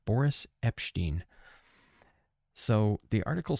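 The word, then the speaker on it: Boris Epshteyn: want to talk about Boris epin is how you pronounce his name Boris epin so the article says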